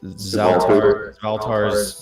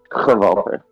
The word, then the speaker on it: Zaltar: Zaltar's voracious rod. It's to Volter. Is that how you say it? It's Yeah. like Gotcha. Volter. Yes.